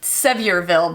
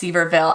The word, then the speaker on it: Sevierville: The city reads like Sevierville, but I think it's pronounced Sevierville.